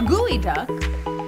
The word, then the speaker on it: geoduck: has a bill mmm a gooey duck or a bear you know that doesn't look the way it's spelled no it's spelled geoduck I'm here - I'm